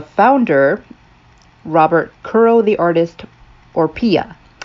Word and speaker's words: Orpilla: Robert Kuro the artist, Orpia. I am assuming it is pronounced Orpia. I don't think it's Orpilla. I apologize if I mispronounced any of your names.